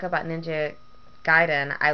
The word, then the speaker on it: Gaiden: at ninen that's why yes I know it's giden I probably know more Japanese than you do